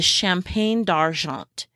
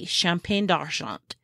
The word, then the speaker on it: Champagne d'Argent: Now, on the flip side, a rabbit that is good for the hot climate is the Champagne d'Argent.